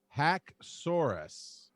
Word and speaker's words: Haxorus: according to merit primer hack soros so hack is emphasis and then soar like a dinosaur soros so this says it's